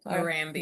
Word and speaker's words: Marambio: Um and then on the right is uh Marambio. Is that how you say it? Moramio.